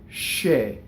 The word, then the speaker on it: che: shake is this double is considered a double consonant the way you say it even though there really is no printed double consonant why is it a double consonant because there's a slight stop after the e before che right and che you mean to do it when you say it he's giving me shake you see che he's giving me shake not he's scared of me